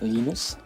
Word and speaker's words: Linus: When I speak Swedish, it's Linus. When I speak Finnish, Linus? it's Linus. When I speak Linus. English, it's Linus. And I really don't care how people pronounce my name.